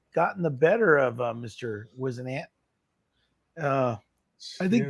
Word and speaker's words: Whisenant: How's it pronounced? Whisenant? Whisenant?